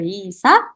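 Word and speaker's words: 의사: Tapi di sini kita pronunciation-nya kita lebih dominan yang huruf i-nya. Jadi bukan isa, añeo, tapi cara bacanya lebih baik pas kita pronounce isa. Jadi lebih dominan huruf i-nya di sini.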